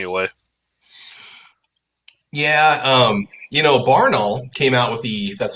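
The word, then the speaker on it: Barnaul: just tears me away yeah um you know barnall came out with the that's how you pronounce it the imported steel case uh russian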